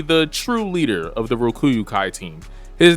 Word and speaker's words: Rokuyukai: Team Urameshi versus Team Rokuyukai. I finally pronounced it right.